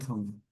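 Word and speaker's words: thumb: rule of the come T एच यू एम बी इसमें कम होता है बी साइलेंट हो जाएगा इसका मतलब होता है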